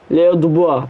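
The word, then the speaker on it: Léo Dubois: The Boys, Leo Duboa diye okunuyor.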